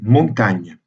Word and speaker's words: Montaigne: mieux en fait donc le nom de montaigne devrait être prononcée montagne parce qu'il s'agit là d'une graphie médiévale encore du mot montagne et ce y est un résidu de la graphie médiévale pour indiquer le n justement pas la table